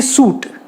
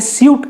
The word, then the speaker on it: suit: वैसे ही सूट, अब जैसे अमेरिकन्स उसे सूट कहते हैं, इंग्लिश पीपल यानी जो ब्रिटिश पीपल हैं वो उसे स्यूट कहते हैं।